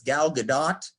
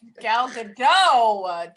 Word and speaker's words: Gal Gadot: second okay because i i pronounced it wrong yesterday and i got really people got really mad at me um because i was like oh yeah number four is gal gadot oh gal gadot jesus she is the